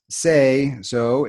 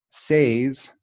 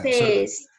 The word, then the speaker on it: says: this word here is say. So if I add an s, it should be say, says. But no, that's not the way we pronounce it. To me, it sounds like past tense, like said, but it sounds like